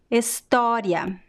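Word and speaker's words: história: the same o sound now let's see examples with the open o sound liking o right in english so let's do this together estoria estoria estoria so see that the last o here is at the end of a word and it is in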